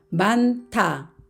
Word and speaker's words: 많다: 받침이 발음되는 말을 살펴보겠습니다 겹받침 니은 히응 만타 앞에 있는 니은을 발음이 되고 희은은 디귿 만나서 타라는 거센 소리가 됩니다 만타 만타 그리고 몸을